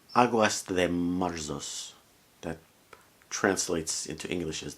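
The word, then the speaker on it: Águas de Março: Later in his career, he wrote a song, I'm going to pronounce it in Portuguese, Aguas de Março.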